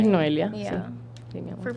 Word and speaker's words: Noelia: Es Noelia. Yeah. Sí, mi amor. For people that can't pronounce it, Please.